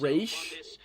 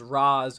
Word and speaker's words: Ra's: So I've heard Raish, which is what, more Hebrew inspired, whereas Raz is more Arabic, I think, because both of them translate to demon.